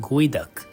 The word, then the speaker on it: geoduck: the Pacific Northwest despite its spelling it is pronounced guu derived from the local Native American word meaning dig deep while the harvest season is often restricted by the local regulations guu in terms of species are available year round